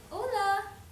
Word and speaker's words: hola: Hola, o l a hola.